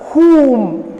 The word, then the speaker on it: whom: 8th one, whom. W silent there.